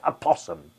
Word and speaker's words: opossum: The O in a possum is silent. Oh, okay, so it's a possum.